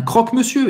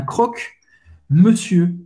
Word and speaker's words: croque-monsieur: Pode ser também un croque-monsieur, isso é verdade. Misto quente em francês. Un croque-monsieur. Un croque-monsieur.